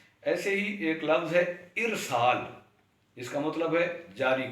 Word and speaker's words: ارسال: ہی ایک لفظ ہے ارسال، جس کا مطلب ہے جاری کرنا، بھیجنا۔ اس کو بھی لوگ ارسال پڑھتے ہیں الف پر زبر کے ساتھ، تو ارسال اس کا درست تلفظ ہے۔ ایسے ہی افشا ایک